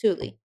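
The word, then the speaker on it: Thule: that spelled the same as the backpacks the Tulie backpacks because I used to pronounce it tul and then someone was like it's pronounced Tulie so how do they feel about in this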